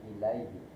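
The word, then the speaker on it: إليه: Kalau alaihi pakai ain, alaihi. Tapi kalau tulisan pakai hamzah berarti bacanya ilaihi.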